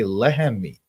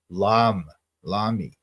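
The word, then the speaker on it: לחמי: But it's not even like, look, if you wanted to say my bread, you would say lehemi. Lehem is how you say bread. You don't say lami.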